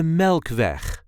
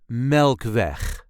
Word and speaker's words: Melkweg: This is how we say de Melkweg. De Melkweg. The emphasis is on the first syllable of the second word.